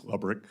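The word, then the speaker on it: Lebryk: Am I pronouncing his name correctly? I believe it's Lebrick. Lebrick, okay.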